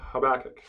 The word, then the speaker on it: Habakkuk: Habakkuk we're gonna call Habakkuk because that's how you pronounce it in Hebrew okay the short and